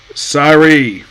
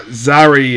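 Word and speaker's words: Serie: by a woman named sari or Zari as that they pronounce it basically it's sorry um yeah this elf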